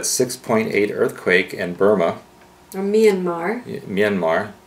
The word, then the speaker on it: Myanmar: to experience that 6.8 earthquake in Burma or Myanmar Myanmar Myanmar not Myanmar that's what Midwestern people they can't pronounce Myanmar Myanmar or just say Burma if